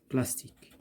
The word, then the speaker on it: plastique: Plastique. S se prononce S. Plastique.